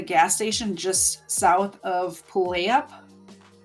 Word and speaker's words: Puyallup: I think it was Puyallup. So the first time I actually said it right.